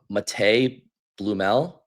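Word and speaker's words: Matěj Blümel: Is it mate Blumel? Is that how you say it? Sounds right to me.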